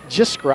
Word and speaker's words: Jiskra: Zach Jiskra. I'm going to get him confused all day because I said his name wrong. It's a tough name. It is. Jiskra. A lot of consonants in there.